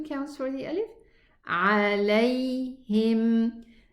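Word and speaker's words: عليهم: This is a lean pronunciation. Lam fatha with a ya sukoon. Lay, lay. Don't say lay. Don't close and terminate the sound. The sound runs. It has rakhawa. Okay? So it runs a little bit.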